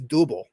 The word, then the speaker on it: Double: yeah because because like Kamen Rider W is not W in Japanese it's doable which is spelled with